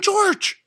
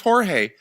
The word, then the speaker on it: Jorge: like the fact that Glenn calls him George because that's not his name. He doesn't pronounce the J's. It's ignorant. He's an ignorant person. His name's Jorge.